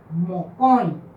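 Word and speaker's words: mokõi: La palabra mocoin significa dos. La palabra mocoin es más fuerte en esta sílaba, mocoin.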